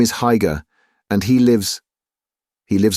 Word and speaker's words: Haigha: His name is Haigha.” (He pronounced it so as to rhyme with “mayor.”)